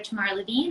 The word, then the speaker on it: Tamar Levene: you got it spot on so it's dr tamara levine and i am one of the pediatric surgeons